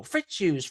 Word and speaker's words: Fritzius: You got the accent on the wrong Fritzius. syllable.